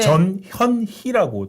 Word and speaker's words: 전현희: 그러니까 발음을 정확하게 좀 네. 전현희라고 좀 네.